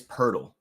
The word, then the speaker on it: Poeltl: So it is Poeltl. That's crazy. I don't know where that R comes from.